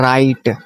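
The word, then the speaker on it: write: राइट, राइट। इसमें डब्ल्यू जो है वो साइलेंट होता है।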